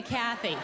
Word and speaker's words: Kathy: Okay, Kathy. So the emphasis is on the first syllable, Kathy.